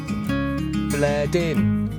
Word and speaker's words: Bleddin: actually pronounced bled in on top of the feet and water issues.